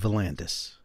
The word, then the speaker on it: Valandis: If you are a serious analog photographer or a digital photographer as well, please go see the work of Valandis. His YouTube photography channel, I'll spell it, V-U-H-L-A-N-D-E-S, Valandis.